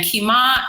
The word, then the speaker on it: Kima: to Kea crystal kima and kima is said like if you're saying where's my kima okay okay okay so